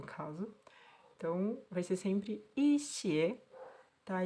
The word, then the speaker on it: 些: O pinyin para xie, desse jeito que a gente tá vendo aqui, xie, ele tem que ser... Ele é pronunciado em primeiro tom, né? O xie. Mas quando a gente tá usando ele nessa estrutura, como alguns, algumas, ele vai mudar para xie.